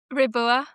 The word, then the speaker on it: Riboua: Raboua. Rabua.